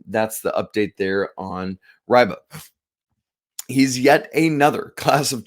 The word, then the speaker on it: Reibe: the weekend to Eric riba it's spelled REI be but he is a German National so it's pronounced riba um this offer came